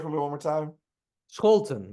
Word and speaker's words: Scholten: Scholten, but you can say Scholten.